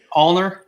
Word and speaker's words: Ulner: Nobody can say my name. They're always like Ulner. Ulner. How do you say it? Ulner. Ulner. Okay. Yeah, it's a nerve that runs in your hand, and the state of